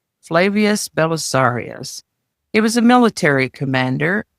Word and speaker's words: Flavius Belisarius: And with that, we're going to start with a man named Flavius Belisarius, I think is probably how that would be pronounced in these times. Flavius Belisarius.